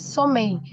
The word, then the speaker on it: sommeil: He is sommeil. We don't pronounce the last L.